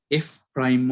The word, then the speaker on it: f prime: By the way, the slope of f of x at x is equal to a is denoted by f prime of a. We pronounce this as f prime.